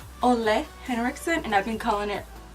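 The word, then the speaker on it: Ole Henriksen: this wrong for the longest time it's actually pronounced only Henrickson and I've been calling it old Henrickson anyways so I'm gonna go in with this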